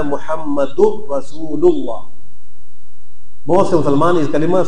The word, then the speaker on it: محمد رسول اللہ: اللہ محمد رسول اللہ۔ اب محمدر بھی نہیں پڑھنا، رسول اللہ بھی نہیں پڑھنا، یہاں پر پڑھنا ہے محمد رسول اللہ۔ بہت سے مسلمان اس